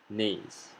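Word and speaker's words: gneiss: is known as a nase take note not to pronounce the g let's pronounce this word together one two three nais well done metamorphic rocks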